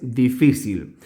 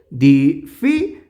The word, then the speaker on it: difícil: palabra que es difícil lo primero que vamos a hacer es dividirlo en sílabas que tiene también tres sílabas di fícil bien dónde se pronuncia con la mayor fuerza de voz Es aquí Dif muy bien entonces decimos